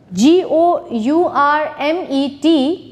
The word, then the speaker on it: gourmet: plumber B is silent g o u r m e t Gourmet and T it's silent next diagraph shape think